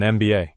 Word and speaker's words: MBA: A useful tip, an unusual situation, an MBA. Because MBA, when you say it letter by letter, starts with an EM sound, vowel sound. An MBA.